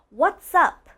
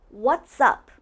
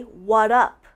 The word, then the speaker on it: what's up: What's up? It's almost like what's and up are blended, like they're connected. What's up? And I also want to mention that some people say what up.